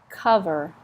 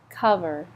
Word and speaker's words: cover: travel brochures travel brochures travel magazines travel magazines cover this Oh sounds like a you up like come cuff cover title the title of the book is title